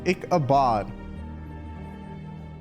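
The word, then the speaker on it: Ichabod: pronounced icabad.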